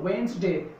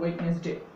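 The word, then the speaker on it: Wednesday: Anyways তাহলে এটার সঠিক উচ্চারণ হলো ওয়েন্সডে, because here D the consonant would remain silent, এখানে ডি এই কনসোনেন্টটি সাইলেন্ট থাকছে, তার উচ্চারণ হবে ওয়েন্সডে, সঠিক উচ্চারণ হলো ওয়েন্সডে, ভুল উচ্চারণ হলো ওয়েডনেসডে।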